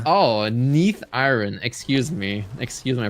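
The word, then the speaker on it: Neathiron: 59 for huh yeah it's Neath iron M this is not aarian from Black Wing oh Neath iron excuse me excuse my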